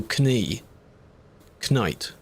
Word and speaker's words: knight: I think it was back in the day they actually used to pronounce those letters. So, Ki Knight, they used to actually say them. And that sounded a bit stupid. So then it was dropped.